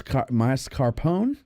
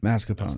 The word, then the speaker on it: mascarpone: yeah uh fee Ragu Savory basil Mars Mas masarone mascarpone moose Marone moose there's no R in the it's not M masone mascapone okay uh toasted Brio garlic bread entree served